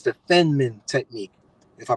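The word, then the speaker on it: Feynman: car you get in a whole it's the fenman technique if I pronounce his name right it's Fe y n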